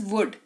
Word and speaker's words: would: वर्ड है हमारे पास वुड डब् ओ यू एल डी L silent रहेगा लॉजिक इज सेम अगेन